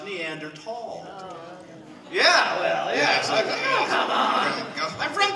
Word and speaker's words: Neanderthal: a good job but the word Neanderthal I pronounced Neanderthal but apparently it should be pronounced neander tall Yeah well yeah I'm from denobula but when